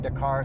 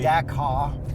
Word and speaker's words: Dakar: dust while you're doing Dar things in this right absolutely D car you're actually not supposed to pronounce the art okay so you should